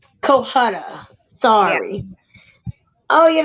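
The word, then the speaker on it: Cohutta: No, not Calcutta. I Is can't it? say his name. How do you say it? It's Kohutta. Kohutta.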